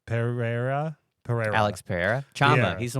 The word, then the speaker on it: Pereira: I don't know how to say his name Pereira Pereira Alex Pereira he's the one that goes